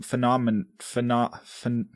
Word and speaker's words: phenomenon: Phenomenon.